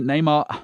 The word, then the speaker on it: Neymar: greater stability and here it is for me neymar i've got to say it right he's the